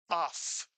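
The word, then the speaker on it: אף: You see a word with the final f one syllable because there's only one vowel. It's simply pronounced off.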